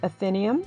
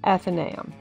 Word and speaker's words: Athenaeum: The A-E that you see in the spelling is an Old English vowel, and it was one of the original diphthongs. That's why, because it's a combination of an A and an E, that some people pronounce the word Athenaeum and some pronounce it Athenaeum. It just depends if you want to make it more of an A or an E.